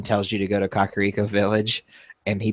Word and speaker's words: Kakariko: It was nice playing Breath of the Wild, and someone tells you to go to Kakariko Village, and he pronounced it the way that I pronounced it, and I'm like, oh, yay, I didn't screw that one up.